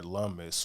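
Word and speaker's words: Lummis: with a video by Senator lumus which rhymes with hummus and she's going to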